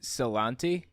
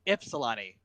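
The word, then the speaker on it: Ypsilanti: is this one just celante no it's ipsalani it spells a y but you sound like an eye okay epsilon and then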